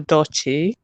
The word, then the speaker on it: Edochie: So this issue with your Edochie, I'm Zambian, so hopefully I pronounced the name correctly.